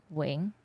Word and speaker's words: Nguyen: That is how you say it. Wing.